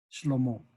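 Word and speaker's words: שלמה: Y Salomón se escribe Shlomo. En hebreo es Shlomo.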